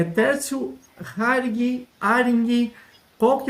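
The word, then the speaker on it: Häring: Então, o nome é Ering, a pronúncia mesmo, né? Porque em cima desse A aí tem uma trema, então fica com a pronúncia de Ering. Né? Então, é Tércio Ering. A origem é suíça aí, tem um parentesco na Ó, Suíça ali, né? Bem distante, viu? legal, Já quero deixar bem claro que é bem distante, né? Mas dessa é a origem aí, a pronúncia é Ering.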